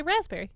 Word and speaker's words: raspberry: Also, while you're looking that up, raspberry. That P really sneaks in there without us knowing. Raspberry is how it's spelled. Yeah. Yeah, but we say raspberry.